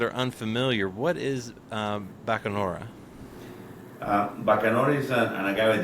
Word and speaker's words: Bacanora: He's the founder, master distiller of Kolinga Bakarona. I probably butchered that. Bakanora.